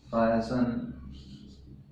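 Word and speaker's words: Feigenbaum: सबसे पहले हैं इसमें आर्मंड वी फाइजेनबेयर, इसको हम क्या कहेंगे, फाइजेनबेयर, ये ध्यान रखें उच्चारण करने में, ठीक है।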